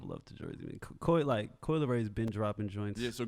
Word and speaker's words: Coi Leray: like, actually, it's not Kid Leroy's song. Fuck Kid Leroy. Who is Kid Leroy? Some nigga that Steve don't like at all. Yeah. I was hoping he wasn't, like, mispronouncing Coi Leray.